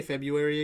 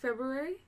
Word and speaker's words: February: Emily, can you say February again? February? Yes. Okay. There's an R in it. There's just nobody ever pronounces that R.